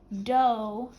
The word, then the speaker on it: dough: way to spell it D like pizza dough right here and we have the o u g making the long o sound do nut check your work